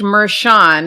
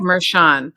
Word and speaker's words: Merchan: week yeah so it struck me that judge meran is how we pronounce it in New York State Court I've